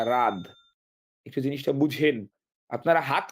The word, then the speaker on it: রাদ: লিখতে হবে রাহা ভাই আমার নাম রাহাত না রাদ একটু জিনিসটা বুঝেন আপনারা